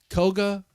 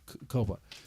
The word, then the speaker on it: Koba: Koga. I say Koga? Koba. I say his name all the freaking time. Koba Metal.